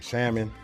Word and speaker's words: salmon: Excuse me, some salmon. I don't know why I keep trying to pronounce that Y. I mean that L.